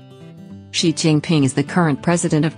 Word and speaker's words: Xi Jinping: in certain words such as with the English pronunciation of foreign words or names for example zai Jingping is the current president of China you can